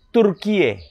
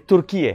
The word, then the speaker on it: Türkiye: secara resmi dan diakui oleh PBB berubah menjadi turkiye jadi kalau dulu Turki kalau Indonesia sebutannya Turki